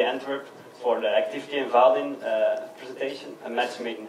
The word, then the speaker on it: Vaadin: And I work as software architect at Vaadin, which is, by the way, how we pronounce it.